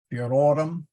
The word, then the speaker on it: virorum: Veer, viri, virorum. The O is long, and that means the accent is on that O.